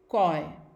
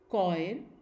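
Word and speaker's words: choir: कुछ और वर्ड्स हम देखते हैं जो कि CH से शुरू होते हैं और उनको हम प्रोनाउंस करते हैं एज क, एज in coarse, कॉय, केओस and school.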